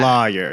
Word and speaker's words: lawyer: lawyer. Loy is how I pronounce it.